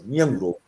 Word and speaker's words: Nyenwolo: And my name is they pronounce the way that the American way, but it's Nyenwolo.